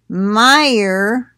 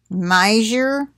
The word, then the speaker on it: Meijer: start with this one meijer i think is how you say that it's m-e-i-j-e-r major but probably meyer anyway recalls candle cantaloupe